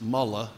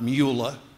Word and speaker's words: Mueller: and by the way his name is mullah not Mueller he's not a Nazi you may have your differences with him I bugs me when the commentators on TV always pronounce his word as if it were Germanic Bob Mallya is mullah